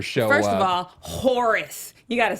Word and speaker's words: Horus: mean Horus Gilder show up first of all Horus you got to say it like that Horus